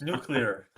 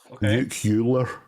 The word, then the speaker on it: nuclear: we say it well predominantly Americans say it nule nucular it doesn't even have another U for sake no it's just because we say clear C clear nuclear come on nuclear yeah exactly